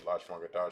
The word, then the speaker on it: Lashawan Qadash: But before I dive into that, I'm about to go ahead and hit up the Lashawan Qadash chart right now, so that way we can all be able to understand exactly how to pronounce our own alphabetical letters.